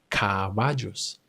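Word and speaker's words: caballos: in C as in cavajos. Cavajos. Cavajos. Here I'm pronouncing the B the soft version.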